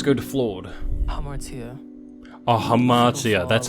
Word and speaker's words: Hxmartia: Oh, Hxmartia, that's how you say it.